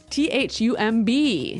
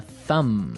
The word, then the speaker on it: thumb: So, the pronunciation here, do you say the B at the end of this word? No, I actually only pronounce the M.